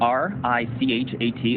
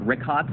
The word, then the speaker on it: Richat: Yeah, in the first couple, I just want to say it's Richat. I used to call it Rickot. I was mispronouncing it.